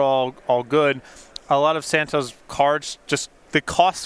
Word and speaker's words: Santohir: Daniel Santo. It is pronounced Santo. The H, the I, and the R apparently are silent, is what Daniel has told us.